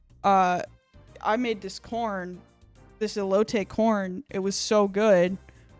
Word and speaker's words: elote: No, elote. Wait. No, I don't want a pronunciation.